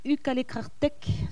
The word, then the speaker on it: Ukaleqarteq: Donc, on dit ukalekrartek, sachant que le Q, c'est un genre de creux.